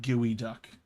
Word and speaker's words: geoduck: on this humble giant gooey duck. Yes, that is how you pronounce it. A gooey duck.